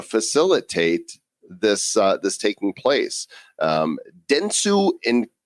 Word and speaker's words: Dentsu: using blockchain to facilitate this that's taking place Dentsu in kadokawa that's how you pronounce those those organizations here are wanting to